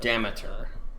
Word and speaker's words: Demeter: Demeter, so it's pronounced.